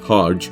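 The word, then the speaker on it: Hergé: by his pen name Harge from the French pronunciation of his reversed initials a born to a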